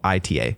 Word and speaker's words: Sonoita: I don't know how to pronounce it. Sonoita. It's Sonoita, Arizona.